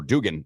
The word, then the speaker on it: Duggan: And this Max Duggan kid, or Dugan, how do we pronounce his last name? Dugan or Duggan? Duggan. I call him Duggan.